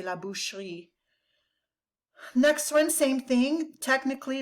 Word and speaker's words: la boucherie: If you were to pronounce it exactly, it'd be la boucherie. But in French, they drop that silent E kind of in the middle of the word and they say la boucherie.